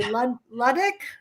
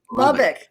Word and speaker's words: Lubbock: are I I don't know if I can pronounce where you are from did you say luddick Texas Lubbock Lubbock Texas is where you've been involved in